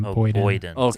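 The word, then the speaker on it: Boyden: How do you say that? So that's like a 20 minute drive. It's B O Y D E N. Bon.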